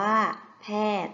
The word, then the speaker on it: แพทย์: แพทย์ นั่น เอง ซึ่ง คำ ว่า แพทย์ มี ยอ ยักษ์ การันต์ อ่าน ว่า ว่า แพทย์ ๆ และ ภาพ ต่อ ไป